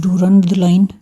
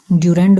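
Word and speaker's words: Durand Line: इस बॉर्डर का नाम भी है, इसका नाम है डूरंड लाइन, ड्यूरेंड भी बोलते हैं अंग्रेज़ इसको, यानी अलग अलग एक्सेंट में अलग अलग तरीके से लोग इसको प्रोनाउंस करते हैं।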